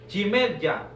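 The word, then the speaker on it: ירמיהו: El libro de Jeremías en el hebreo se escribe Jimerya.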